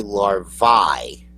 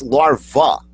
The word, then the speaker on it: larva: bit wrong because I've I've heard people say larvi okay as a singular and l v maybe as uh a multiple but it's larva is it not if it's a singular I I guess if